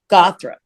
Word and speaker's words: Gawthrop: you well um my name is impossible to spell it's not impossible but it uh it's uh gothra g-a-w-t-h-r-o-p so what happened is it used to